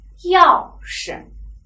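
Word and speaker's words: 钥匙: 轻声，钥匙，钥匙，轻声是钥匙啊，钥匙。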